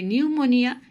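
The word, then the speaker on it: pneumonia: এখন নিউমোনিয়ার স্পেলিংটি দেখো, পি এর পরে এন আছে। কোনো ওয়ার্ডের প্রথমে যদি পি থাকে এবং তারপর যদি এন থাকে তাহলে পিটা সাইলেন্ট লেটার, পি কখনোই উচ্চারণ হবে না, কারণ এটা গ্রিক ওয়ার্ড।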